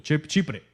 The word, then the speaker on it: Chipre: lo escribí por aquí a ver cómo se pronuncia chipre chipre verdad sí en inglés Cypress